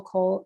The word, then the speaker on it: Coll: So I can be found at Cole Coaching. My last name is spelled COLL.